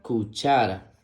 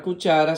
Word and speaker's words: cuchara: La siguiente imagen muestra una cuchara. La palabra cuchara se escribe con C-U, que suena Q, C-H-A, que suena cha, R-A, que suena ra. Cuchara, cuchara.